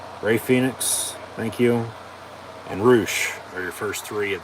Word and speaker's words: Rush: here he comes um as it's spelled rush r-u-s-h roosh with his horns gonna